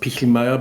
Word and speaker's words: Pichelmeier: My last name is actually pronounced Pichelmeier, but no one gets that right ever.